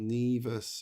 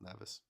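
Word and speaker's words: Nevis: And then the other one is called Neas. It's pronounced Neas, not Nervous.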